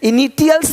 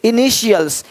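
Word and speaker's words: initials: अब यहाँ पे टी आई है, इनिटियल्स नहीं बोलते, इनिशियल्स, इनिशियल्स, इनिशियल्स। यानी इसी टी आई को जब टी के बाद आई ए हो, आई ई हो, आई ओ हो तो उसको श पढ़ते हैं, श।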